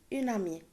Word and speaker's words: amie: Ami, une amie. Je ne le prononce pas le E, mais j'écris E à la fin.